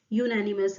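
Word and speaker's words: unanimous: आप जब यूनानिमस बोलेंगे तो आप कैसे लिखेंगे हिंदी में, यू से शुरू करेंगे, यूनानिमस एंड सो on. Hindi में हो गया, इंग्लिश में यूनानिमस ऐसे तो शुरू करेंगे स्पेलिंग को। पहला जो वर्ड है वो क्या है, कॉन्सोनेंट साउंड आ रहा है, तो जब कॉन्सोनेंट साउंड है तो ए आएगा, अ यूनानिमस डिसीजन।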